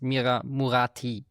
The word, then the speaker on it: Mira Murati: Uh I I got the name wrong. It sounded very similar but it's Mira Murati.